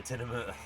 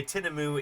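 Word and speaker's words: tinamou: prepared for the tineu. I'm sorry, Rogues. Uh, by the way, tinamu is uh is spelled with a U at the end.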